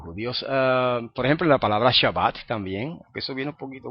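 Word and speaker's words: שבת: y no como a Así que en vez decir shabat dicen shabos con o Y en vez de pronunciar la t final Como hacen los sefarditas que pronuncian shabat los asitas dicen shabos y pronunci la t final como una s Eh entonces fíjense que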